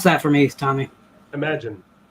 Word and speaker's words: Imaginarium: Imagine. It's just Imagine. It's spelled really funky. It's spelled like I'm a genie.